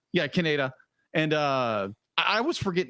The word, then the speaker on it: Kaneda: They like he's or as I still pronounce it every time I see it, Canada. It'll be like he's morphing into that enormous blob. Yeah, that was Kaneda. Yeah, Kaneda.